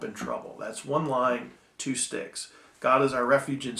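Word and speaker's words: stichs: those parts are called sticks s TI CH s pronounced like a you know stick off a tree but let's so for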